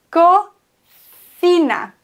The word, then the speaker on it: cocina: C vor I und C vor E werden gelispelt im Spanischen. Aber nicht vor O und U, deswegen co. Vor O und U und auch vor A spricht man das C wie ein K, aber vor E und I wird es gelispelt. Deswegen co, aber fi. Das ist das Zeichen fürs Lispeln, wie ein englisches TH.